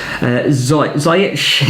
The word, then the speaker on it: Ziyech: Ziyech is how you pronounce his name.